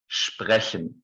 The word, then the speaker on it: sprechen: Now, actually, many beginners struggle with this sound, even though you can all produce it. It's a little bit like the Spanish trilled R, like the re, but it's not produced with the tongue, but instead with this part of our throat, the upper part of the throat.